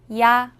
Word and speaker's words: 야: 야. 야는 먼저 이를 소리 내다가 바로 이어서 아를 소리 내며 발음합니다. 이와 아를 순서대로 빠르게 말해요.